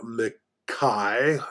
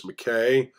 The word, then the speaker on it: McKay: bit about uh Cloud Makai that's how it would be pronounced in traditional Scottish but it's uh I guess you know an American slang is McKay although that wouldn't have